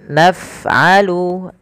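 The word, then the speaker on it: نفعل: Kemudian naf'alu, alirkan lafaz ketika kita melafalkan fa. Af gitu ya. Af naf'alu bil mujrimin.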